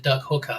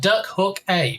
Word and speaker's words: Duck Hook A: Not as some people pronounce it, Duck Hooker, because that sounds inappropriate. But Duck Hook A, because you can hook a duck.